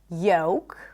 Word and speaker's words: yolk: So the L is not pronounced in words like yolk, the yellow part inside the egg, yolk, not yolk, yolk.